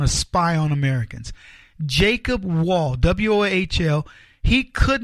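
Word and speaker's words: Wohl: Jacob Wall, W-O-H-L, he could not be more correct.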